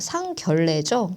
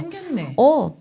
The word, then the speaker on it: 상견례: 이걸 뭐라고 발음하냐면 선생님 이거 상결례죠. 그래서 내가 상견례. 너랑 결혼할 사람한테 결례하고 싶다고 결례해라. 그럼 그때 상견례지. 그쵸. 근데 애들은 이거를 리을로 바꿔요. 그냥 무조건 니은이 나오면 무조건 그 니은을 리을로 바꿔버려. 그래서 그렇지 않다. 이거는 한자어기 때문에 앞에가 단어예요. 얘는 건드리면 안 되는 거야. 그래서 하나의 단어니까 건들지 말고 뒤에 거를 바꿔야죠. 레라고 발음이 어려우니까 얘를 바꿔라. 얘로. 이렇게 가는 거예요.